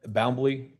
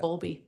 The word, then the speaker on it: Bowlby: Okay, and it's Boundley. I'm mispronouncing that. Bowlby.